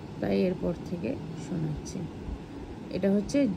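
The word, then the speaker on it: ح: এটা হচ্ছে জিম। এটা একটু চেপে বলতে হবে। আর এটা তিন আলিফ পরিমাণ টেনে বলতে হবে। জিম হ এটা হ। গলার ভিতর থেকে আওয়াজটা আসবে।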